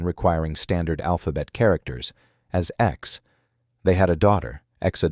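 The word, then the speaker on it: X Æ A-12: They had a son in 2020, named XAA12, pronounced, after some public debate and a California legal intervention requiring standard alphabet characters, as X.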